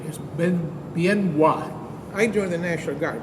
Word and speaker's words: Bien Hoa: ended up in a big army base called Benoit it's pronounced b-i-e-n and then h-o-a many Americans seeing that name the in the print in the newspaper pronounced it bien HOA but the correct pronunciation has been bien why